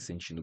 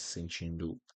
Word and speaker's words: sentindo: Você está se sentindo bem? So, are you feeling alright? It's all good. Você está se sentindo bem? Sentindo. Be careful with the pronunciation of the T.